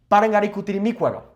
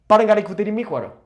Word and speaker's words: Parangaricutirimícuaro: This is a popular tongue twister that we use here in Mexico, and it is pronounced as such. Parangaricutirimícuaro. Parangaricutirimícuaro.